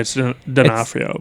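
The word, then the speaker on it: D'Onofrio: Denafhrio, by the way.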